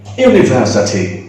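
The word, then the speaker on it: university: যেমন ইউনিভার্সিটি, একটু লক্ষ্য করো, ইউনিভার্সিটি, যখন ইউ উচ্চারণ করছে ওই ওয়াইটা চলে আসছে শুরুতে, যে কারণে তখন ইউনিভার্সিটি এর আগে আমি কখনো অ্যান্ড ব্যবহার করতে পারবো না।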